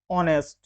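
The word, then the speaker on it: honest: इसी प्रकार से बहुत सारे ऐसे शब्द हैं, नाइफ, ऑनर, आवर, ऑनेस्ट। तो इन सारे शब्दों में जो पहला अक्षर है, जो पहला अल्फाबेट है, वह साइलेंट है।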